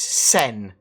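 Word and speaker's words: Sen: and the Reliant sin don't say is n it is sin I said yeah n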